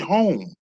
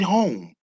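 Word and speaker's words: Homme: I told y'all about a black brother who has a designer shoe line, Android Home.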